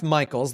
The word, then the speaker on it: Mikels: So my name is Mikels. The last name is spelled like the word Mike, M-I-K-E, with an L-S attached on the end.